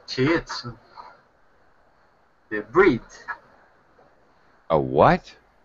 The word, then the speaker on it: Shih Tzu: So your breed of dog is a shit? Shit. I don't know how to say it. Shih Tzu. You shouldn't just say shit, because that's a bad word in English.